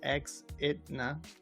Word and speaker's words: Exidna: I always tell everybody it's Exidna, but yeah, it's a quick, a nice little mental game that that setup of letters makes people either just say Exidna. It doesn't. A lot of people cannot say it right, so I kind of picked it for that.